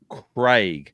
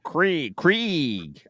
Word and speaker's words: Craig: Like Craig. I have not just pronounce it, I now have to say Craig. And they go, oh, Krieg. I'm like, there's no E in it, but that's all right.